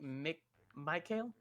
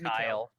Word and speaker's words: Mikhail: I think Michael. I Not think Michael. It's Mikhail. Mikhail.